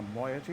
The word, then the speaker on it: moiety: Well, I'm afraid I've had some trouble with Catherine and the moiety. That's how you pronounce that.